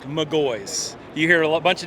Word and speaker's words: McGaughys: your company how do you pronounce MGO it's pronounced MGO you hear a bunch of different ways most people say it's mahes or mwis but it's pronounced MGO well that sounds pretty simple not m mwis